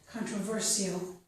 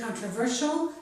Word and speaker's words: controversial: It can be pronounced with the sh, the way I just did, or also with an s sound, controversial. I pronounce it controversial, so I've included it here, and that's a very common pronunciation.